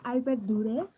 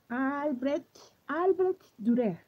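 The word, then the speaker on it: Albrecht Dürer: Sí, estos son los Faber-Castell de su línea Albert Durer. No sé si así se pronuncia. Los Albert Durer. Albrecht Durer. Durer. Durer. Durer. Es que la R en alemán es como más cultural y me cuesta. Y estos para mí en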